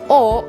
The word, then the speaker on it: を: this is pronounced as o or wo in the hiragan alphabet but then again just like a whenever you're going to use it as a particle it is pronounced as o remember that all right